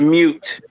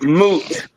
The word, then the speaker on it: moot: There's no such thing as mute. It's moot.